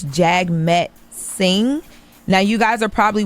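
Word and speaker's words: Jagmeet Singh: So Drake called out um a man I I don't even know how you say his name. I believe it's Jag Met Singh.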